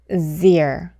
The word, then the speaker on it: zero: 그래서 이 단어를 발음할 때 가장 중요한 포인트는 첫 번째 음절을 제가 아니라 z 이렇게 발음을 해야 한다는 점 꼭 기억해 두세요.